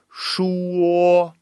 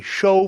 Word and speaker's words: 说: So he kind of he reversed the O and the U. So 说说, right? He kind of said 你收服我了. And the problem with that is that 收 is actually a pronunciation in Chinese. So just a thing to just turn the change the U and the O there, and then you'll get that correct.